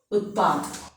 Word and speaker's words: उत्पाद: p t is written here half, so we want to write here. We are showing that half pronunciation here using hal chin. We want to use here hal. Then p is also halfly written here. T p utpa, and three together we are reading tpa utpa utpad.